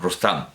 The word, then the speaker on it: Rustum: traducción de Moll para su Sohrab en Rustum, pronunciado, claro, Rustam.